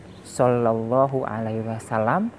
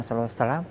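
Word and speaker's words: Shallallahu 'alaihi wasallam: kita harus benar membacanya pertama tadi solallohu alaihi wasallam bukan solo selam atau salam yang kedua bertahan Salam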